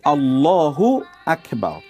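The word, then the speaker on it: الله أكبر: করে থাকেন যেমন ধরুন আল্লাহু আকবার ঠিক আছে এই যে এখানে দেখুন মূল উচ্চারণটা হবে আল্লাহু আকবার আল্লাহু একটি শব্দ আকবার একটি শব্দ এখন আপনি আল্লাহু আকবার না বলে যদি আপনি বলেন আল্লাহু আকবার আকবার যদি আপনি বলেন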